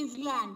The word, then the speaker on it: island: You will not say it is land because yes is silent.